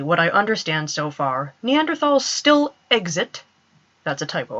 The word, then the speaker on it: Neanderthal: I'm going to be saying Neanderthal. It is more natural for me to say it that way.